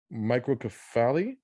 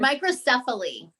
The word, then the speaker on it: microcephaly: i pronounce this correct microcoffee am i saying that correctly microcephaly microcephaly excuse me i want to make